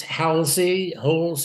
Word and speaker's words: Halsey: It's Halsey, whatever you prefer. Americans say Halsey because there was a famous Admiral Halsey.